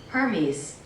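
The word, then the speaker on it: Hermès: I'm not like a brand like a designer person, but how do you pronounce MS? Let's see. Hermes. Sorry. Hermes.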